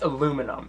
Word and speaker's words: aluminium: on the floor laughing another word that you should always never use use is aluminium it's pronounced aluminum if you say aluminium that means you're from England and we don't like